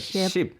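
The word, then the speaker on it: 십: And what sip is, yes, it does mean like sipping a drink, but also if you kind of say it in the Korean pronunciation, it is like ship, right?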